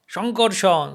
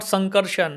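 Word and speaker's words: সঙ্কর্ষণ: This Sa, but we pronounce Sha. So the SHO, SHO, SHO. Sha, Sha, Sha. Shoti, Shita, Shita. Vishnu, Shiv. Varshneya, and Shankar, and Shita. Shitapati or Shita. Sanjoy, Shankarshan. So not Sankarshan, not Sita.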